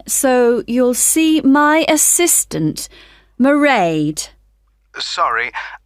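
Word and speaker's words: Mairead: you'll see my assistant merade sorry how do you spell that it's m a i r e a d meride okay got that it's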